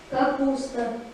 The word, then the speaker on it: капуста: Капуста. Ударение падает на слово «куст». На гласную «у», безударную гласную «а» запоминаем.